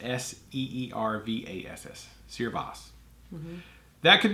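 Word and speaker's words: searbhas: yeah Cerre boss is the Irish word for bitterness pronounced seer boss looked like sir bah ha so yeah it's spelled like Sears s CA r bh a s pronounced s ee r Vass so your boss that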